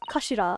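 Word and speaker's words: 頭: It's written as head in Japanese, but it's pronounced as kashira, I believe.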